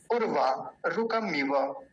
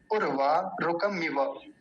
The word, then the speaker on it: उर्वारुकमिव: उर्वा रुकमिव, उर्वा रुकमिव, ये शब्द बहुत गलत बोला जाता है। पहले तो लोग गलत उच्चारण करते हैं, उर्वा ऐसे बोलते हैं, उर्वा रुक, उर्वा नहीं होता, उर्वा होता है, यानी ह्रस्व उकार है, छोटा ऊ है।